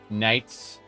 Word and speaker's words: Knights: They pronounce the K. Knights.